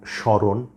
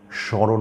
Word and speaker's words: স্মরণ: কথা বলছি যেমন ধরুন স্মরণ দন্তস এর সাথে ম ফলা আছে কিন্তু ম এর কোন উচ্চারণ হচ্ছে না স্মরণ উচ্চারণ হচ্ছে স্মৃতি দন্তস